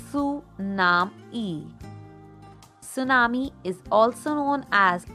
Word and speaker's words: tsunami: Tsunami, pronounced as Su-nam-e.